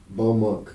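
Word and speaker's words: Baux Monk: Bow Monk. How do you spell that?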